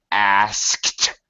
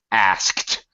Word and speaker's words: asked: proper pronunciation Amalia is asked you pronounce the S and then the K and then the T asked but For Heaven's Sake